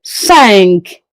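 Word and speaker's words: cinq: Sank. Five is what? Sank. As you can see the Q. So the sound of the Q has to come out.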